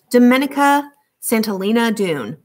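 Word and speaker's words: Domenica Santolina Doone: woods and a river my name is pronounced the italian way dominica santolina dune it's a mouthful so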